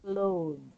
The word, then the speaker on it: clothes: And for the clothes, we pronounce this as clothes. Clothes. Okay, clothes. Close. Okay, so the T, H, and E is pronounced as D. So that is why it's clothes.